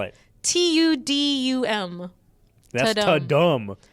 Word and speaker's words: Tudum: How do you spell it? Tudum. That's Ta-dum.